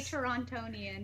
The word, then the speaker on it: Torontonian: So that's another distinguishing feature of this Torontonian, or whatever, however you say it. How do you say it, Julia? Correct, Alan. You do say Torontonian.